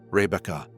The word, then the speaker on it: Rebekah: Let the name arrive in you, softly. Rebekah. 3 syllables like the gentle turning of a page.